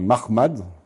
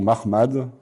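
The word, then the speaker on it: Muhammad: En fait, on sait pas exactement comment ça se prononçait à cette époque. On a juste les lettres MHMD, MHMT dans les sources. et on penche plutôt actuellement vers une prononciation Mahmad à la juive que Mohammad à l'arabe islamique comme ça sera développé après dans la tradition islamique.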